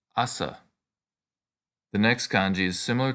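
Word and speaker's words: 朝: a Morning Star the medieval weapon this is pronounced Assa the next kanji is similar to the one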